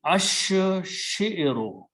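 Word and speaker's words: الشعر: So it will be ash shi'ru. Lam is not pronounced.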